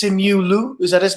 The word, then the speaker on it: Simu Liu: I mean, listen, I always mispronounce his name. It's Simu Liu.